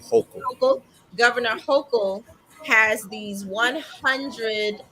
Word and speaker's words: Hochul: Hokel. Hochul, Governor Hochul has these 100 licenses designated for people who have passed marijuana charges.